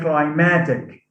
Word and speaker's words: climatic: happens here is that because of the influence of the suffix ic stress is shifted from the first syllable to the second syllable in the in the stem so we say climatic climatic stress on climatic drama we say drama